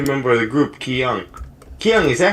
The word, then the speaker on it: Ki-Young: Ki-Young, is that how you say your name? Or is it Kang?